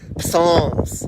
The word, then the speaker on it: Psalms: Psalms. With a silent psi.